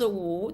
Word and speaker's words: 无: So the first word is 无无乌五乌 because the W and the U both pronounce U, so that's very confusing to the Americans.